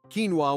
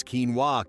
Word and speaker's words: quinoa: It's quinoa Karen, not quinoa.